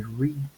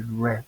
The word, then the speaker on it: read: de forma distinta previamente en presente diramos I read en pasado aunque se escribe igual diría I red como el color prácticamente en G que